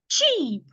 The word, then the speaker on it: cheap: So the first word, this word right here, is pronounced cheap. Cheap. Release the sound suddenly.